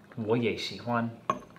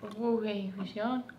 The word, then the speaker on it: 我也喜欢: You can say, 我也喜欢. 我也喜欢. 我也. 我会. Say, 我. 我. You kind of say it like this. 我. 我. 也. 也. 喜. 喜. 欢. 欢.